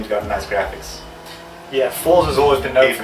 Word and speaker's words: Forza: Right, they pronounce it Forza. Like a pizza. Forza.